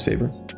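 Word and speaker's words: Faber-Castell: Newton are my favorite pencils but how to pronounce fav Castell okay cool that it is favor so okay also Statler is it Statler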